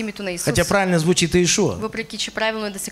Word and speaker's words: Иешуа: На сколько языков се произносит днес имя на Иисуса? Хотя правильно звучит Иешуа.